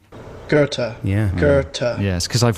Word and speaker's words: Goethe: a famous german writer i know this g-o-e-t-h-e garter right let's have the real pronunciation gerta yeah gerta yes because i've read a lot